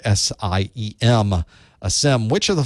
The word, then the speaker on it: SIEM: That's how you pronounce that weird word, SIEM.